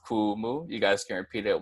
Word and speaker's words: kumu: teacher professor and then Kumu has no fancy tacos or okie nuts either so it's just gonna be cool Moo and then once more that's cool move you guys can repeat